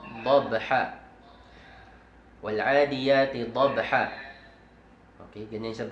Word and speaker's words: ضبحا: Wal-adiyati dabha. Dabha. Wal-adiyati dabha. Okay, ganyan siya basahin. Wal-adiyati dabha. فالموريات قدحا فالمغيرات صبحا فالمغيرات صبحا. Hindi falmughirat, hindi. Ang muriyat ay yung nauna. Wal'adiyati dabha falmuriyati qadha falmuriyati qadha falmughirati subha.